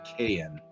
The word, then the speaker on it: Kyan: just I think that he pronounces it Kayan with that like longer A.